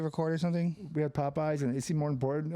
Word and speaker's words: Popeyes: Even though it's technically Popeyes. Correct. But I say it like with eyes.